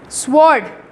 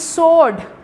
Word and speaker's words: sword: this word sukesh sorry sword children please remember w is silent you'll say it's sword say it sword don't